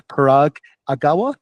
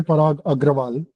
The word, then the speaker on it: Parag Agrawal: That's Parag Agawa. I I hope I pronounced your last name right. Is that right? It's actually Parog Agraal. Oh, there you go. Thank you. You can simply call me Parog.